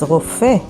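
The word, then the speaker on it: רופא: This word is rofe, and it means doctor. Rofe is spelled with resh, vav, pei, alef.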